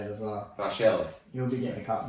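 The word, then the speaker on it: Rachele: Another crazy debutant from the round, and I think it's pronounced Rochelle. Rochelle? Yeah, the Italian pronunciation of it. You gotta flick your wrist a little bit when you say it as well. Rochelle.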